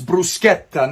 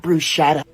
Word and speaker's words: bruschetta: better say it right it's bruschetta not Bruce shadow foreign also you